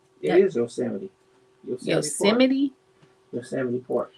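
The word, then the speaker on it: Yosemite: We're going hiking in Yose next week. You can't even say it right. It is yoseity.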